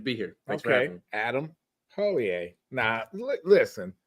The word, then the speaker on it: Hollier: here thanks for Adam Holier now listen pronounce your name because I everybody says it says it's different now right from the horse's mouth O A okay O A okay yep H is silent i e RX how